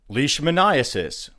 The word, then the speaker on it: leishmaniasis: And here we're talking about mosquitoes, ticks, fleas, that kind of creature, spreading diseases like malaria, dengue, and leishmaniasis, I believe is how you say that, a parasitic disease according to the CDC that we would have associated with tropical climates.